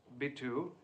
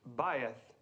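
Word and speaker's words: bayith: babylonic word for house B2 appears in the classical Hebrew as as what Mr Crane uh faith well almost right Mr Crane thank you the correct pronunciation is baith and who can tell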